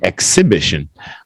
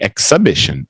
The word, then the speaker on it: exhibition: But again, you look at the phonics and the proper pronunciation would be exhibition. Exhibition. Try that, Donnie. Exhibition. Exhibition. Exhibition. Yeah. Ek. This time it's an EK, not an IK.